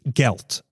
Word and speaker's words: gelt: people would give them money or as it's pronounced in ysh the language of Eastern European Jews gelt okay so that's where the Hanukkah G came